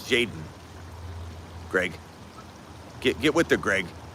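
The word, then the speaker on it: Jayden: Well, his name's not Jalen. It's Jaden. Greg. Get with the Greg. Stop calling Jaden Daniels Jalen.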